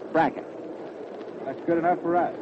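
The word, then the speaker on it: Brecheen: Louis is Bracken. B-R-E-C-H-E-N. A lot of folks call it Prasheen, but he says that he and his family call it Bracken.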